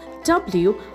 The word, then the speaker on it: wrist: The next word we have is wrist, spelled as W-R-I-S-T, wrist.